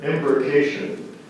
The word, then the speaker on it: embrocation: Many cyclists use an embrocation to help loosen muscles and provide warmth and protection during cold or rainy weather.